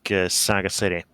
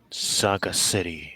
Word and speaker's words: Sagacity: meat rations, I'll ask Saga City. So, why is your name pronounced Saga City and not Sagacity? You know, like the word.